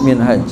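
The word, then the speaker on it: منهاج: Nah, kalau enggak ada alif, enggak ada alif bacanya manhaj. Kalau ada alif minhaj ini.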